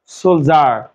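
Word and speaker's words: soldier: যে একটা শব্দ সলিডিয়ার ঠিক আছে বা সোলডিয়ার উচ্চারণ হবে সোলজার সোলজার ঠিক আছে এর বাংলা অর্থ সৈনিক দেখে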